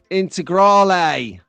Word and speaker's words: Integrale: I was saying it wrong. Going back to this post here, this comment, is the SRC Delta HF Integral, as I said. And apparently it's Integrale.